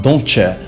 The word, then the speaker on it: don'tcha: It's actually the same case with don't you, which is actually pronounced don'tcha, and many other examples you can find in American English.